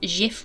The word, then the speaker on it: Giff: Although some people say it's Gif Rogers, but we're going to call him Gif because it's a hard G.